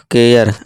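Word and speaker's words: care: जैसे कि देखिए दोस्तों, ये सी क्या देगा, का, और ये AR, KA और R, र, केयर।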